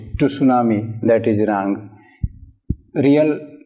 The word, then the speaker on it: tsunami: will discuss it but here the spelling of tsunamis t su en ami years some pronounce it - tsunami that is rank real pronunciation is tsunami and